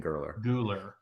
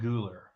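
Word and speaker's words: Güler: Verts, Guler, who Chani is trying to correct us on, as we keep saying Gurler. Arda Guler. Is that better?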